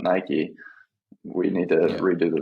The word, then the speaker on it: Nike: send it over okay they said my brand name wrong they said nikki not nike we need to redo